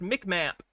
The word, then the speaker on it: MCMAP: It's called MCMAP, pronounced MICMAP.